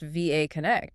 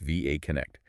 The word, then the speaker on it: VA Connect: We're looking at a South African managed agency called VA Connect and that's pronounced VA Connect saying the letters correct VA Connect.